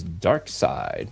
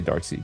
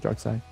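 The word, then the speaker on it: Darkseid: I used to say dark sea, but I think they pronounce it dark side.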